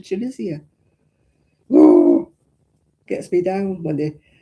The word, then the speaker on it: Tunisia: It's not got ease in the middle of it. It's got an I. It's chisian. You don't go to Tunisia. You go to Chunisia.